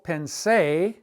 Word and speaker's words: pensé: Lo pensé, accent on the E, lo pensé mucho.